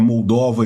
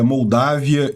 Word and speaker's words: Moldávia: e eu peço desculpas eu tenho a mania de ler os nomes em inglês e falar Eles pronunciar eles como tá em inglês que é moldova e România mas não eh em português é moldávia e Romênia eh isso é